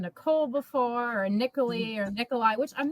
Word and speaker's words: Niccoli: M, Niccoli, which rhymes with cannoli.